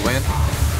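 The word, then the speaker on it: Nguyen: My name is Win. It's spelled N-G-U-Y-E-N.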